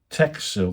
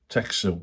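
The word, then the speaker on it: Techsil: uh Uh, you have to go to uh Tech Seal. That's now I'm I'm going to put the thing caption underneath, but I'll spell it out anyway. T E C H S I L. Tech Seal, and they're based in Bidford-Upon-Avon.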